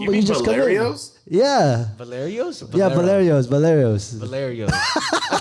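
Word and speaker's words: Valerio's: Boleros. yeah, Boleros, fresh baked all day. You just go, You mean just come in. Boleros? Yeah. Valerios? Yeah, Valerios.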